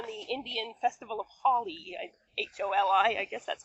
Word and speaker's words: Holi: I don't know if it's interesting at all, but it's also based on the Indian Festival of Holi, Holi, I guess that's pronounced.